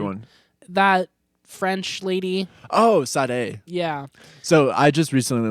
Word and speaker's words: Sade: Oh, Sade. Yeah. So I just recently learned the right way to say her name is Sade. I always said Sade.